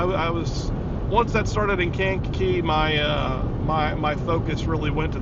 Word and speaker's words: Kankakee: I think is how you say that, Kankakee.